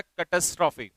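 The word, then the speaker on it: catastrophe: इसका प्रोनाउंसिएशन होता है कैटास्ट्रॉफी।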